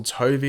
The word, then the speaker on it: Tovey: the Ray he will be played by Russell Tovey er that's how you pronounce the actors name and you can see